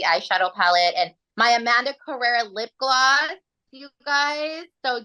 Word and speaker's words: Carrera: So, you guys find me on all platforms, all social media at Amanda Carrera, and it's spelled Carrera, like the car. Because a lot of times people hear like Cabrera or Correa, so I'm like it's Carrera like the car.